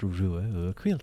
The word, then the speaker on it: Ruadh: ad um but uh it's pronounced ruila I'll pronounce it again